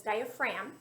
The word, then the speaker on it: diaphragm: a diaphragm but it's diaphragm the g is silent and the diaphragm's job